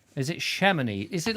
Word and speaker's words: Chamonix: well without one oh you don't pronounce the x in chamonix is it shamany is it like shamany